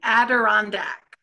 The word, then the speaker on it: Adirondack: I always get Adirondack wrong. Close. So it's Asa and Adirondack. Adirondack, right.